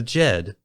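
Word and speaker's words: Djed: behind a curious name the jed which when written out in a latin alphabet is spelled d-j-e-d was a symbol used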